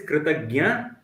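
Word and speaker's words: kṛtajña: Note the pronunciation. Gnya for the one who is grateful. Ghna is for the one who is ungrateful.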